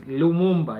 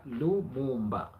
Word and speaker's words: Lumumba: It is Lumumba, yeah? Lumumba. The way they pronounce it when it comes to African. No, in in Swahili it's Lumumba. You just read it the way it is.